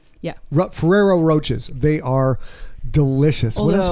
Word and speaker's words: Ferrero Rocher: How do you pronounce that? Ferrero Rocher. Yeah. Ferrero Roches.